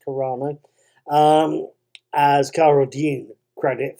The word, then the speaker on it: Carano: actually going to give gina carrino gina carano i think it's pronounced carano um as cara dune